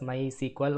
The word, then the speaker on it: MySQL: choice type my SQL it is pronounced as my SQL although it is uh typed as MySQL okay Enter click the